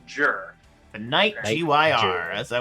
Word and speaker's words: Gyr: we got i've i looked it up it's pronounced jur the knight g-y-r as i was saying well